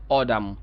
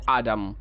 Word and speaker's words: autumn: ঠিক আছে autumn autumn আমরা যারা আমেরিকান ফলো করি তারা বলতে পারে কি অডাম অডাম আবার অনেক আমেরিকান আছে এটাকে বলতে আডাম আডাম দুইটাই আমরা বলতে পারি অডাম অর আডাম আডাম বাট ব্রিটিশরা বলে autumn ব্রিটিশরা বলে autumn আবার